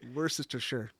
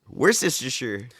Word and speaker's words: Worcestershire: I heard him pronounce Worcestershire. What was that? Worcestershire. Worcestershire.